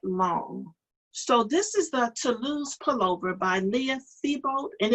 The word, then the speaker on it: Toulouse: So this is the Toulouse pullover by Leah Thibault, and it was in the Knit Scene Winter 2012 magazine.